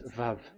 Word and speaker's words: Vav: We called it as Vav. Vav. Your claw, your mouth is like closed. Vav. So it's V as in Vogue.